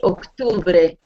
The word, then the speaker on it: octubre: I find that most people have the most trouble with octubre. Okay? There's a long O instead of another O, it's a U.